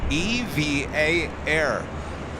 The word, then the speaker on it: EVA Air: by the airline itself the voice over said EV V A a evv air that is officially from the airline itself so we've been saying it wrong this whole time EV flight 12